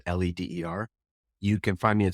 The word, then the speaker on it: Leder: There's no A in there, even though it's pronounced Leder, Leder.